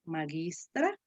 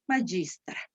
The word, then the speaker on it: magistra: todo vean la pronunciación observen la pronunciación de la g lage que nosotros la vamos a pronunciar suave aquí digo magistra mientras en la pronunciación italiana dice bajista la pronunciación de los